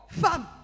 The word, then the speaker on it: femme: Maintenant nous arrivons à la prononciation. Femme. F. E. M. M. E. Dis à un homme, où est le A?